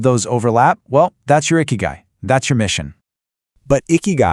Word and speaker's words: Ikigai: And that word is icky guy. It's pronounced eeky guy.